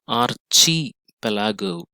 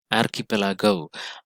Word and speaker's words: archipelago: of the word as archie palago but this is not wrong it is not chi in in fact the real pronunciation is archipelago r key so the pronunciation of ch is often confusing sometimes it is pronounced